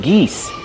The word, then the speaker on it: geese: Use the long E like C and me.